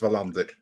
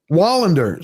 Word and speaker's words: Wallander: Yeah, and the chat corrected me. I was right the first time. It is Wallander, and Wallander is Swedish, not Norwegian. Wallander, sorry, Swedish.